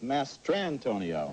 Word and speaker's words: Mastrantonio: It's Mary Elizabeth Mastantonio. Okay. Does that rhyme with San Antonio? That well sort of does.